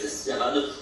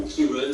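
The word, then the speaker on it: Ciarán: depuis plusieurs jours la tempête sirane ou kirun si on la prononce à l'irlandaise on aura des rafales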